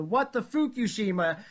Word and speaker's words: What the Fukushima: Well, it's actually What the Fukushima, but you can say it however you want to say it. It's fine. Yes, we get a little crazier, so we'll pronounce it correctly.